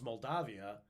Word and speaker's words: Moldavia: it's a regional pronunciation but Moldavia it's good to say Moldavia just so you know there's an A in there instead of an o yeah because that's how